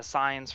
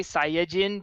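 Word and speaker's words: Saiyan: the time it's like it's actually not pronounced sign I'm like off you goingon to say sain because that might not sound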